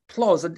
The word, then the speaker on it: PLOS: One, how's that pronounced, please? PLOS until 2020.